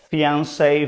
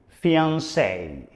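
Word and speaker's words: fiancé: if I'm not mistaken comes from French fiance the pronunciation is fiance for both men and women fiance repeat after me fiance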